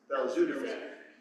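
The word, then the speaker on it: belzutifan: Um so uh how do we pronounce this? Beludapan thank you.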